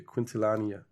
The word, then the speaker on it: Quintanilla: No, not Quintilla. Quintilania.